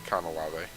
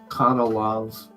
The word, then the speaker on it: Canalave: And I didn't want to say I should pronounce Cantilever. it properly. Canalave. Canalave.